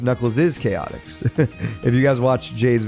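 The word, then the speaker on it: Knuckles' Chaotix: It is pronounced Knuckles is Chaotics. If you guys watch Jay's videos or Jay's reviews, I think he he mentions that because there's an apostrophe after the S.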